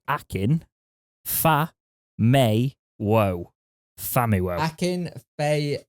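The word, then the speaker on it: Akin Famewo: in the news now actually we've got a pronunciation edit here apparently it's akin fa mei whoa fami world hackin faye may whoa no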